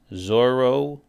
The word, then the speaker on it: zorro: The word for fox, zorro, we hear in English, is of course a Spanish word, zorro. And they would say zorro.